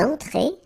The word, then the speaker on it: entrée: Une entrée. Okay, remember, well, technically this final here is not pronounced, so phonetically it doesn't exist, so it's et. Okay, entrée. Remember, nasal here, en, entrée. Une entrée.